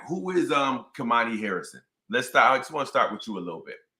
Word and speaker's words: Khamani: I always say Kamani. It's Kamani.